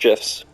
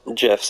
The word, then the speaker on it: GIF: The creator says it's pronounced GIFs. Really? Yep, the creator of GIFs specifically That makes said no it. sense, though. It does. Yeah, no, I agree with you, and I always called it GIFs for a long time. But the creator of GIFs specifically said it's meant to be pronounced GIFs, as in the peanut butter GIF.